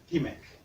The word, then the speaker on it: TMEIC: It's a big word, but we just pronounce it as Tmeic.